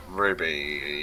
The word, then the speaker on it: RWBY: a very recent thing Ruby you're going to have to refresh my memory here Rooster Teeth uh the the animated C oh that is that the one spelled like RWBY y or something like that yeah yeah what did